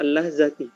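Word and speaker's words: اللحظةِ: Kemudian bacanya ya, fi hadhil lahzati, ya, fi hadhil lahzati, perhatikan hadhil lahzati jar majrur ya, makanya dibaca al-lahzati karena dia itu isim majrur.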